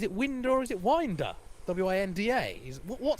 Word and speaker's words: Winder: contingent is watching ah correcting my pronunciation thank you very much it's definitely window is now winder winder winder I just remembered yeah we asked him is it me or is it winder he said winder but I forgot you